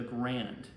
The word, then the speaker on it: Garand: 30 model M1 also affectionally known as the grand I say Grand because that's what most of the World War II vets called it I understand that uh John Garand Garen was how you pronounce his last name people